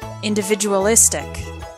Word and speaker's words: individualistic: Particularly in individualistic, the most difficult part is in the middle. Visual, visual, individualistic.